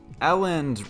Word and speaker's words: Elland: the problem here is aland rhymes with balant that's a big no-no